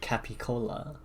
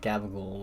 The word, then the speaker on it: capicola: It's actually called, well, that word, capicola, but some folks pronounce it like gabagool when they say it first. When they say it fast.